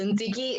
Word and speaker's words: Ntsiki: of a time twister so ziggy is said like how you say nikki but with the t is so nikki that